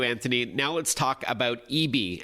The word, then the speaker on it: ibi: All right, without further ado, Anthony, now let's talk about Eebee, and it's spelled IBI from SanDisk.